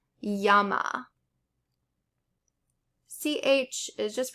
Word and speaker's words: llama: The double L is generally pronounced like the English Y.